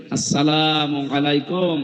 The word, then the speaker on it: আসসালামু আলাইকুম: প্রবেশ করেন এ শব্দটাকে আজ যারা এখনো পর্যন্ত উচ্চারণ শেখেননি তাদের কপাল নষ্ট হওয়া না আজকে থেকে ঠিক করে নেবেন আসসালামু আলাইকুম আদম থেকে শুরু করে আমাদের নবী পর্যন্ত প্রত্যেকের